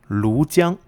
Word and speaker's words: Lujiang: One, the commandery is called Lujiang, correct pronunciation.